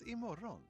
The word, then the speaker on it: imorgon: Vi ses imorgon. Imorgon. It's like maroon.